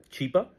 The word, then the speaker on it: Chapa: got involved a humanitarian his name is Chapa Mr Chapa and and she starts pronounce she she starts mispronouncing she calls him chipa chipa and yeah chipa is look it up look it